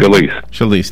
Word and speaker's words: Scalise: It's an honor, and our prayers to everybody up there, especially Congressman how do you pronounce his name? Scalise. Thank you. Steve Scalise.